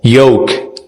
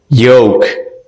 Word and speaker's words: yolk: Ini juga L-nya di silent. Cara baca O-nya agak U. O. Yolk. Yolk.